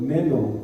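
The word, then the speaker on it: μένω: pronuncia en el español meno, como menos, pero sin la S, meno.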